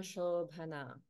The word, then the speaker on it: शोभना: Because of Sandhi, the A in Ashobhana becomes combined with the A in Prita. So we have Prita Shobhana. Prita Shobhana. So I'm going to pronounce it as Shobhana without the A, just to indicate the melody.